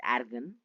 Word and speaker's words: argon: Suppose if you see in periodic table calcium is near to argon. Argon. Okay. Yeah. Its pronunciation is argan.